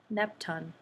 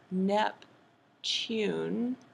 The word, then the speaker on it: Neptune: planet NEP nepton right so you said nepton as if there were no e right there remember what sneaky e does he reaches over here and makes him say his name ooh U sometimes he says u and sometimes o but let's just say it's U so NEP tune ah and then okay